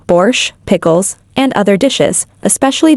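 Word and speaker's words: borș: for Soups such as a bores pronounced borch pickles and other dishes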